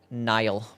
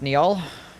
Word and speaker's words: Niall: Then we'll go fight, Nile. Midra should have given us his super laser. Pretty cool. Laser would have been more useful. It's pronounced Niall.